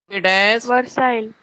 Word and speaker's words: Versailles: It is a spelling, okay, but it should be pronounced as Versailles.